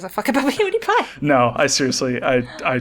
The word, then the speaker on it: PewDiePie: That's That's not how you pronounce his name. It's PewDiePie. Like cutie pie.